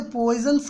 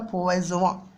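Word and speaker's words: Poisson: ये करना है साथियों, कि हम लोग तो इसे पॉइजन्स कहते हैं, बट एक्चुअली में ये एक फ्रेंच नेम है साथियों, और इसका जो रियल प्रोनाउंसिएशन होता है वो होता है पॉइजवा।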